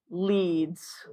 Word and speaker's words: leads: Pronounced leads.